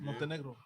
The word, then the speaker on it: Montenegro: I think we're saying that wrong, Montenegro. No, that's how you pronounce it, Montenegro.